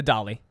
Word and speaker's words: Dalai: pronounce it Dalai no it's not the dolly it's D it's d d a l a i so the doll not the dolly the doai Llama doll llama the the the dolly do the dolly he's